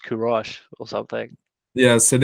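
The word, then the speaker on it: Kourosh: spelling would it's like insinuate that it's pronounced kurosh or something yeah so it is pronounced kurosh and it is I knew it yeah yes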